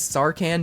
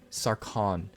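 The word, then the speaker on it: Sarkhan: Sorry, Saran. Saran, I think is how it's pronounced. Someone corrected me on that in the last video.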